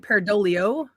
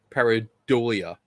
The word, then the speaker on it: pareidolia: pronunciation pedant here um are you pronouncing it peridolio paradolia okay all right i just